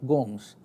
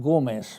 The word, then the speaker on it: Gomes: whose name is Michael Gomes. I'm afraid she mispronounced it Gomez, because that's our California Spanish way of putting it.